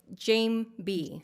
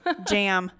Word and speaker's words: Jeambey: always say it wrong kind of it's Jane B Jane B yes I always say okay I always say jam I know a lot